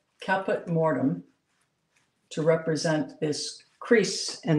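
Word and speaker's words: Caput Mortuum: And I better look at the stick of pastel, otherwise I may misspell it. It's Caput Mortem, and it's C-A-P-U-T, and then a separate word, M-O-R-T-U-U-M.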